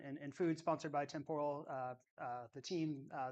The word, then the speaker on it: Temporal: Temporal, right?